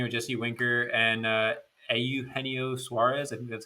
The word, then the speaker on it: Eugenio: he got you know jesse winker and uh eugenio suarez i think that's how you pronounce this first you nailed it yup you